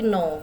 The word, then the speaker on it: nos: Nah, tapi dia berubah untuk plurialnya jadi no ya. Tidak dibaca s-nya.